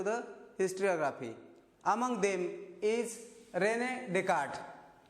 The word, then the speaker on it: René Descartes: Among them is René Descartes. See here the difference in the spelling and the pronunciation.